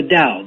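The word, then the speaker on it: Tao: spelled ta AO but in fact it's pronounced the da the way the moral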